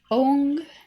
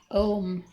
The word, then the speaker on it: Ong: If Saturn is giving you a problem, Ong Namo Bhagavate Kurma Devaya. That's O-N-G, not Om. Not O-M, O-N-G.